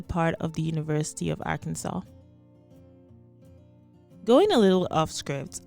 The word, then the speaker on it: Arkansas: story once through before realizing that i was pronouncing arkansas as our kansas anyway you can let